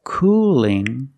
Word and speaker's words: cooling: let's hear the difference cool has a dark L at the end but cooling has a light L do you hear the